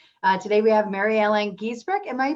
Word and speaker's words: Giesbrecht: Today we have Merri Ellen Giesbrecht. Am I pronouncing your last name properly, Merri Ellen?